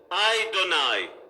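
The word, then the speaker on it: ἡδονή: c'est hayden aille donc ça s'écrit achats des ans m et ça se prononce à et de nay c'est bien ça tu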